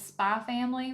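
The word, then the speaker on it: Spy × Family: here, but it is Spy Family Volume 1, The X is Silent, and it is by,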